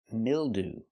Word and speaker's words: mildew: Example, mildew. That's right. Not mild, but mildew. Ooh. We're using the most common pronunciation of ew at the end.